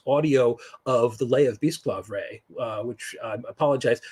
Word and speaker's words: Bisclavret: of the Lay of Bisclavre, which I apologize. It's Bisclavret, I believe is how it's pronounced. It's an old Breton word, which I believe technically